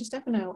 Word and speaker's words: Stefano: go ahead and move to a doctor Stefano I would love to hear am I pronouncing their own name correctly yes that's correct um yeah uh Esau